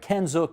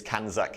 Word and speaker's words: CANZUK: we Advocate it's uh you were close it's kak International Canada Australia New Zealand the United Kingdom yeah not a problem